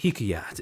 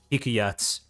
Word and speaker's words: Hikayat: And about a week later, August 28th, Rapu end up debuting as what was colloquially referred to as Hikayat's generation zero. Now, accent on the car.